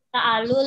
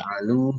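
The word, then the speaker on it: تجعلوا: Fala ta'alu lillahi. Taj'alu panjang.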